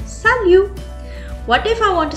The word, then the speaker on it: salut: would say it as salute s a l u t is the word but we are not going to pronounce the T at the last I would say salute what if I want